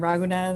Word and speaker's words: Raghunan: my name is raghunan i guess some people stumble on that but i always say the best way to remember it is like ragu spaghetti sauce and nandy and the